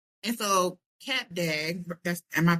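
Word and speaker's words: Cap d'Agde: And so Cap Dag that's am I pronouncing it correctly?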